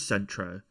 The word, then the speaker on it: Centro: So, how do you pronounce him? Is it Centro? Yeah. Centro. It is Centro.